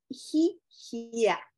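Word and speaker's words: hihia: definición de los afectos y la palabra es gigia se escribe h i h i a esa palabra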